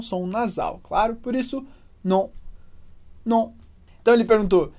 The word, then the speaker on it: non: E atenção só para a pronúncia, que a gente não fala 2 sons como no português, não. A gente tem simplesmente non, non. É um som só, que é como se fosse o som O, a boca muito parecida